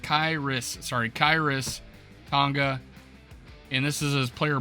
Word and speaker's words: Khyiris Tonga: Khyiris Tonga, pronounced Khyiris Tonga, and this is his player bio going into the draft.